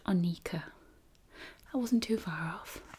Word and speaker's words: Anika: Pronounced Anika.